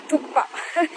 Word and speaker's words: thukpa: Thukpa. It's a little tricky to pronounce. I often mistake it to, I call it thukpa. I don't know, it's tricky. So yeah, it's spelled as THUKPA, thukpa.